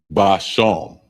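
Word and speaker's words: בשם: And it's spelled Ishab. Ishab. Ashab. And that means herb. Next one is spice. And it's basham.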